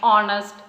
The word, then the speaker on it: honest: Honor, honest, our. In all these words, H, the letter H is silent.